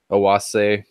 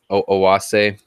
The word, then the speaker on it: Oase: People pronounce it however they want to, but I pronounce it Oase. Oase. Like the E is more like an A. Oase.